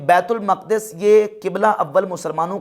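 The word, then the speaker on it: बैतुल मुक़द्दस: यह भी कहा कि यह मकद लफ है मुकद्दस नहीं है यह लज है बैतुल मकद बैतुल मुकद्दस लज नहीं बैतुल मकद इसकी ट्रू प्रोनंसिएशन है सवाल यह पैदा होता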